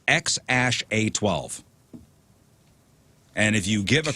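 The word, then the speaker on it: X Æ A-12: that is wild the the kid's name is pronounced X Ash a12 and if you give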